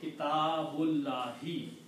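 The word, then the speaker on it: كتاب الله: But when you read together, you do not pronounce this alif. You say kitabullahi.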